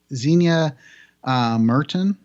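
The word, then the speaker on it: Zienia Merton: the hell do you know yep and then Xenia Merton who played Sandra Baines is how you say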